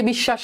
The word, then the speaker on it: বিশ্বাস: তাহলে দেখে বিশ্বাস এখানে মাঝে আছে। বফলা কোথায় আছে? মাঝে আছে। এবার দেখ স এর উচ্চারণ কিন্তু দুইবার হচ্ছে। বিষ শ্বাস বিশ্বাস বিষ।